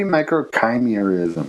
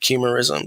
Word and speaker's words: microchimerism: it it might be microchimerism because it's about like chimera yeah they say like the root word comes from chimera but i i've always been uh pronouncing it chemorism so it's like micro